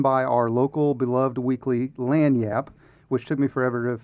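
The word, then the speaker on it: Lagniappe: It's put on by our local beloved weekly LAN Yap which took me forever to figure out how to pronounce that because how it's spelled and how you pronounce it are two different things. It's French.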